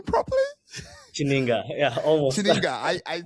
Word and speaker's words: Chininga: Did I pronounce that name properly? Chininga, yeah, almost.